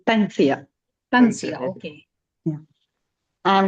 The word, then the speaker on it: Tansia: it pronounced? Tansia. Tansia. Okay. It's Tansia.